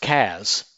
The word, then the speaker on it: CAS: SAS Cloud Analytic Services, pronounced CAS, is the in-memory runtime engine for SAS Viya.